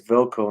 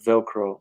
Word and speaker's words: Velco: the stage and say my name is velco not velcro not that sticky stuff and uh I'm gonna